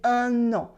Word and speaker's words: un an: As you can see here, I don't say un an, I say un an. I do la liaison, un an.